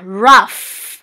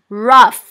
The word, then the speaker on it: rough: คะ จำ ไว้ นะ ตัว G กับ H นะ คะ เวลา มา อยู่ ใกล้ กัน นะ คะ แล้ว อยู่ ข้าง หลัง คำ อย่าง เงี้ นะ คะ ออก เสียง เหมือน ตัว F นะ คะ เหมือน ตัว F นะ